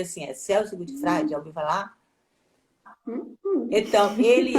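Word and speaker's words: Celso Gutfreind: já leu alguma coisa dele, que é o Celso Gutfreid, pronuncia assim, Celso Gutfreid, já ouviu falar?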